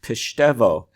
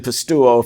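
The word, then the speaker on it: pisteuo: student says in class shouldn't that verb be pronounced pistevo and i said look son i've been saying pastuo for 50 years it's going to take me a while i can't imagine pronouncing that word pistevo it just doesn't communicate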